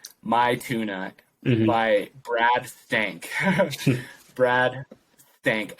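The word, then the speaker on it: Maithuna: chill the song is it's pronounced my tuna but it's m-a-i-t-h-u-n-a my tuna by brad stank brad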